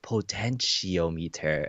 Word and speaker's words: potentiometer: about within the comments and it's like it's pronounced potentiometer and I was like again I was just